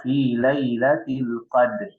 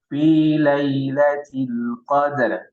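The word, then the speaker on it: ليلة القدر: Dia baca fi lailatul qadr. Roknya tidak, padahal seharusnya dia dibaca, terdengar. Ya. Dia diberikan haknya. Roknya diberikan haknya. Ya. Jadi kita baca fi lailatul qadr.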